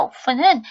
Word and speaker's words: often: often하고 배우셨던 건 영국식 발음, 미국식 발음은 T 사운드 하지 말고 often. 그러니까 문을 열다의 open은 open에서 윗입술 아랫입술 맞다는 P 발음이고요. 자주 종종이라는 빈도부사 often은 F 발음입니다.